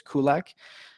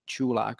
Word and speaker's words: Culak: natives always say is Kulik and I'm kind of going with that in Czech it's actually chu'lak so it's like choo choo know that the the